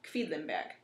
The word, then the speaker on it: Quedlinburg: So let's break that one down into syllables, because I know it took me a long time. It's kind of a QV combination at the beginning, which is what makes life a little difficult. So it's Quedlinburg.